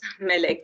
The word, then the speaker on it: Melek: Melek, am I pronouncing your name correctly? Yes, Melek, yes, that's it.